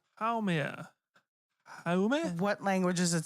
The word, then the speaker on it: Haumea: Make, and I'm going to pronounce the next one so fucking horribly wrong. It's Haumea. Haume? Like, how may I help you? Haumea.